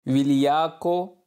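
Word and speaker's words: vigliacco: जा पहले से ही विलिया को बुजदिल अल्फाज विलिया को विलिया को नहीं पढ़ना ये जो जी है ना ये साइलेंट है ठीक है हम पढ़ेंगे विलिया को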